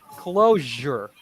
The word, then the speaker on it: closure: us but sometimes we sometimes people pronounce the sound as the J J so yeah so it's actually zh so there's a little bit more air there for example closure closure camouflage I